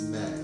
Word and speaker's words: me: It's spelled ma, but it's me.